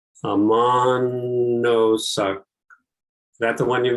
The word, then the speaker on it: Ammonoosuc: Monosuc. Is that the one you mean? Yeah. It's not Ammonoosuc. part of the. What is it? Yeah, thank you. Ammonoosuc. Ammonoosuc.